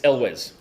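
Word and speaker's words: Elwes: Yes, it's Elz. His name is actually Carrie Elw. It's not Ules, but that's Everyone just says that.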